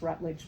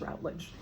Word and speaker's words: Routledge: published writer with Routledge which most people pronounce rage but if you go to the publisher they will tell you it's rage um and so I went